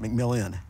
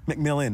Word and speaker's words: McMillan: race is over we actually pronounce it mcmillion mcmillion McMillan not mcmillion McMillan McMillan McMillan McMillan